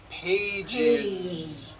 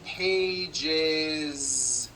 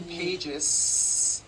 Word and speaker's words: pages: in a voiced sound one page becomes two pages with that voiced z two pages it's not two pages unvoiced you're probably saying i